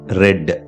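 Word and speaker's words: read: சான்று ஐ ரீட் நவ். இப்போது நான் படிக்கிறேன். Yesterday he ரெட். நேற்று அவன் படித்தான். இங்கு ஒரே வித எழுத்து வெவ்வேறான உச்சரிப்பு. இதன் மூலம் பொருள் வேறுபடுவதை காணலாம். ப்ரெசன்ட்ல சொல்றப்ப ஐ ரீட் அப்படின்னு சொல்றோம். பாஸ்ட்ல சொல்றப்ப எஸ்டர்டே ஹி ரெட் அப்படின்னு சொல்றோம்.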